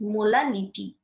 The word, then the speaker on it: molality: Now it when we pronounce it, it is very equal to same as molarity, but actually it is molality, not R, it is now L.